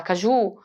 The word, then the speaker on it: caju: Não é o ju. Olha só o exagero. É claro que eu não falo da forma que eu estou exagerando aqui pronunciando. Mas eu consegui identificar que é o que, ó? É o K. Caju. Ele é o mais forte.